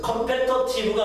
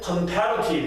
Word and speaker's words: comparative: 그래서 컴패터티브가 아니고 발음기호에는 컴패터티브라고 나와 있는데 원어민이 읽을 땐 컴패러티브 이렇게 써요. 자, comparative 경쟁력이 있는 뭐 이런 뜻이고요.